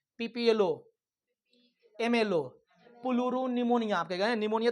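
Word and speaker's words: pneumonia: Mycoplasma को PPLO भी बोलते हैं, PPLO बोलते हैं, प्लूरो निमोनिया लाइक ऑर्गेनिज्म, ठीक है? निमोनिया का स्पेलिंग नो से नहीं होता, PS होता है, P साइलेंट होता है, इसलिए प्लूरो निमोनिया लाइक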